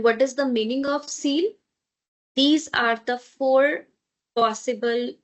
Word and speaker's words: Ziel: Because after z, which is z, we have a vowel, so this is going to have z sound. Ziel. Okay? And what is the meaning of Ziel?